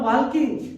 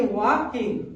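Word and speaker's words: walking: वॉकिंग, यानी कि इसको कोई लोग पढ़ता है वॉकिंग, लेकिन वॉकिंग नहीं पढ़ा जाता है, के आगे एल साइलेंट हो जाता है, यानी कि वॉकिंग।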